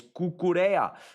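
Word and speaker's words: Cucurella: Gonna ask why Brits are so bad at pronouncing Spanish names. It's Cucurea.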